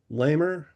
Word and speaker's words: Lammer: Lamer or Lamer? Not sure how you pronounce it. Yes, Lammer.